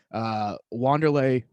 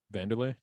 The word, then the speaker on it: Vanderlei: Vanderlei? Yeah. Why'd you say Wanderlei? I think that's how you spell it. Say it. That's how you spell it. It's not Brazilian. It's Vanderlei. Okay.